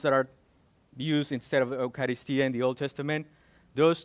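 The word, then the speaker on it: εὐχαριστία: Something interesting that I found is that word in the Greek is Eucharistia. That's what it's, how you pronounce the word in the Greek.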